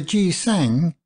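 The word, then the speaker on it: gisaeng: flower has evil associations the ji sang as the Koreans pronounce the name of the Geisha as the Japanese call the dancing girls are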